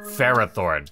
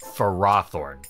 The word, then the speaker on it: Ferrothorn: video we're going with how most fans pronounce it which is ferrothorne not for raw Thorn well all right here